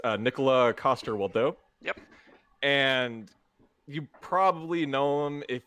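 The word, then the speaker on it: Nikolaj Coster-Waldau: I picked pronounce the I'm going to try to pronounce his name correctly, but it's Nicola Coster-Waldau.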